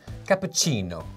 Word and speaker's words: cappuccino: Cappuccino. Capuino. Okay, that's more like Italian style.